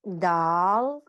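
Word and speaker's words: د: दाल pronounce from the टिप ऑफ the tongue touching the roots of द टॉप to front teeth.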